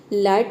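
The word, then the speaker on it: light: देखिए किसी भी वर्ड में अगर आई जी एच टी अगर एक साथ आता है तो इसमें जो जी एच लेटर है ये साइलेंट रहता है, ठीक है। हम जी एच को प्रोनाउंस नहीं करते हैं।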